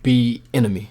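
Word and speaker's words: Bieniemy: on the market is eric b enemy i think that's pronounced the right egg b enemy obviously the chief's oc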